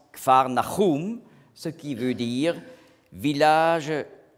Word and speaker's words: Kfar Nahum: En hébreu, on prononce Kfar Nahum, ce qui veut dire village de la consolation ou village du consolateur.